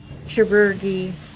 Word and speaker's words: chirurgy: Chirurgy.